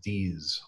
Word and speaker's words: Dease: It's Dease, like a Z sound.